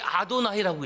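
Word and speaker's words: אֲדֹנָי: 저 히브리어서 있는데 저게 아도나이라고 읽어요. 아도나이. 여러분 아도나이라는이 호칭은 오직 야외 하나님께 쓰는 거예요. 그래서 구약 성경이 기록된 히브리어에 야회라는 단어가 나오면 그 야회로 읽지 아니하고 아도나이로 읽은 거예요.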